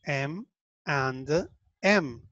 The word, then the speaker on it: M&M's: And, entonces cuando lo dices rápido decimos M and M, M and M, M and M, por eso decimos M, N, M, haz de cuenta que